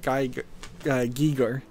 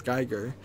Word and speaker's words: Giger: It seems like Nathan has some dark artistic style, but this game did reference H.R. Giger, is how it's pronounced, but often mispronounced as Geiger.